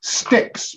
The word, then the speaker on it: Styx: Our next category is sticks, but that's spelled S-T-Y-X.